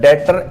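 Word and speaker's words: debtor: डेटर इस तरीके से लिखा जाता है। डी ई बी टी ओ आर जो बेटा बी है वो यहां पर साइलेंट है। कुछ ऐसे शब्द होते हैं ना जिसमें कुछ हमारे पास जो लेटर होते हैं वो हमारे पास यहां पर साइलेंट हो जाते हैं। उसी तरीके का ये शब्द है डेटर जिसको हम डेटर बोलते हैं पर लिखा जाता है डी ई बी टी आर डेप्टर लिखा जाता है।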